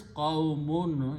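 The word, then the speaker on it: قومٌ: So the word is qawmun. Important thing is that in the pronunciation we should pronounce qawmun is the word. With the two dhammas.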